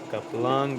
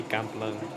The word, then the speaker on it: Kamplung: It's actually Kam, not Kap. But yeah, we call him Kaplung, but it should be Kamplung.